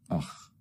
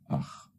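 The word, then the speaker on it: أخ: Alif has a hamza above it, so we pronounce it as a, and the khaa. So it's akh, which means brother, akh.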